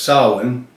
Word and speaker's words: Samhain: tradition in modern times Salan a Gaelic word pronounced Salin that's where I learned it it told me